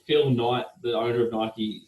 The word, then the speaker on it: Nike: like a brand like nike right so all their all their advertising that they do is purely brand awareness i'm glad you pronounced nike properly too a lot of people say knife and it really annoys